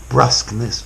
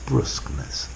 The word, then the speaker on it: brusqueness: Brusquely, brusquely, brusqueness, brusqueness. Both pronunciations are possible.